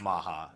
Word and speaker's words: Maha: I kind of feel like just calling it Maha, since that's the Japanese pronunciation, because Mach and Mach